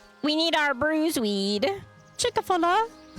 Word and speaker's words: Chick-fil-A: Chickfila. It's pronounced Chick-fil-A.